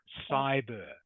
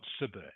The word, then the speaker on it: cyber: to correct your pronunciation it is cyber pronounce cyber bullying okay cyber yeah not not cber cyber cyber cyber okay thank you